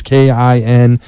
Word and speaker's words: Kindya: So the D is silent. It's Kindya, and a ton of info there.